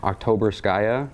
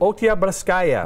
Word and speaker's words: Oktyabrskaya: Oktyabrskaya. Nope. Oktyabrskaya.